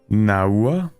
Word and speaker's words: Nahua: It's actually pronounced Naua.